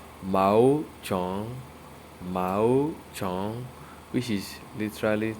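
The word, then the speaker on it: 毛虫: So now caterpillar is called ma chong, ma chong, mao. Sorry, it is pronounced as mao chong, mao chong, which is literally translated as hair insect.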